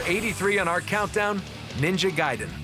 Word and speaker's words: Gaiden: I'd be pronouncing it wrong. I thought it was Ninja Gaiden, but Ninja Gaiden is like one of my favorite video games.